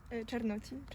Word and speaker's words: Czarnocin: Czarnocin.